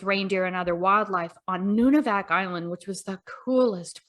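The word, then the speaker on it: Nunivak: and muskox that you um study is it nunavak island am i pronouncing that correctly yes yes you want to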